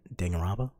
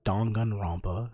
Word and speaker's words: Danganronpa: danganronpa is done get danganronpa what's danganronpa or or dongganrampa as it's supposed to be pronounced once that's i'm getting